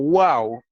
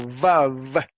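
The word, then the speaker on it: וו: En resumen, la tradición de pronunciar esa letra como wow es históricamente más exacta y así se encuentra en muchas gramáticas del hebreo bíblico incluyendo la de Thomas Lambdin. La convención de pronunciarla como vav es también aceptable, pero esa pronunciación procede del periodo moderno, lo que estábamos diciendo, ¿ven?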